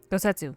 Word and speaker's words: Gosetsu: will find gosetsu together I almost said his name wrong gosetsu yes find mhm thank you if gettu yet